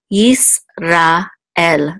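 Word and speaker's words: ישראל: Yis, ra, el. It's three syllables, yis, ra, el.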